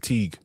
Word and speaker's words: Teague: How do you pronounce that? Is that Teague? I said Teague O'Neill.